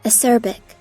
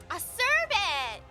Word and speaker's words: acerbic: Esribic? I've seen this word before, I just don't know how to say it. Google, it's time. A-C-R-I-L-B. Hold on. Are you ready, chat? We're gonna learn today. Acerbic. Acerbic! Awesome!